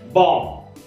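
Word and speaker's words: bomb: त्याच्यानंतर आहे बॉम्ब, प्रोनाउन्शिएशन आहे बॉम्ब, म्हणजे बॉम्ब किंवा कुल्फी गोळा.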